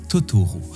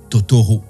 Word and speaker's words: Totoro: avoir vu un troll en japonais troll se dit totoru elle prononce Totoro par erreur d'où le nom qui